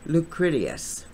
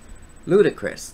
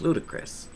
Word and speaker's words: ludicrous: dot pull something so lucratious well i'm kind of wondering the same thing ludicrous that's how it's pronounced ludicrous i don't pronounce words